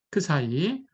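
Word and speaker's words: ξ: 예 사이라고 라고 놨습니다 이거 그리스 문자예술 크사이 예 읽을 때는 발음 기호가 크사이네 이렇게 읽으시면 되겠어요 자 그러니까 금방 설명한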